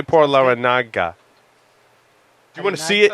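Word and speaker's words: Larrañaga: Laranaga. Well done. Laranaga. Yeah. It's got the squiggly line over the end, so you have to. It's like años. You have to say años, not anos, because those are two totally different things.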